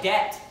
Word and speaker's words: debt: When you read the word S-U-B-T-L-E in the Bible, that B is silent. It's just like debt, the word debt, like you say I'm in debt, you don't say I'm in debt, Right, I can't even say that.